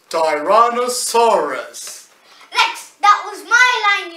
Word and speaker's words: Tyrannosaurus: Anyways, it is pronounced Ty Ran O Sar Us Tyrannosaurus.